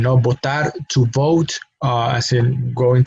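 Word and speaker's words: votar: Now, those are two different verbs that are pronounced exactly the same, and the only difference is their spelling. The initial letter for one is V, the initial letter for the other one is B, but we pronounce it the same.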